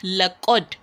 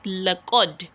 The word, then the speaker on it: لقد: In writing, just as you can see here, it's just laqad, right? It's laqad. Lam fatala, qafun fataqa, laqa, dalun skun is laqad, right? That is how it is supposed to be pronounced.